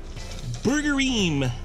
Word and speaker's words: Burgerim: how's it going - today I'm at Burger eehm that's right burger eehm it's a restaurant a